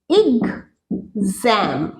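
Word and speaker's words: exam: নেই এটাকে কি বলে এটাকে বলে ইগ জ্যাম জ্যাম নয় জা বলে তো কোন বাংলায় লেটার হয় না অক্ষর হয় না জ হয় কিন্তু এটার উচ্চারণ ইগজ্যাম আমি ইংরেজিতে লেখার চেষ্টা করছি ইগ জ্যাম এক্সাম নয় এটা ওয়ার্ড এক্সাম উচ্চারণ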